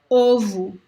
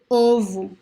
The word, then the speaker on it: ovo: with the closed O, like in the word ovo. Ovo, closed, ovo, ovo.